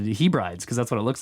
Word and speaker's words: Hebrides: says Curtis here again sorry to be a pronunciation Nazi but he brides is Hebrides hey Brittney Hebrides is